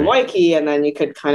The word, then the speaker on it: Weike: I usually say Weike, it rhymes with Nike, or it's like Beach.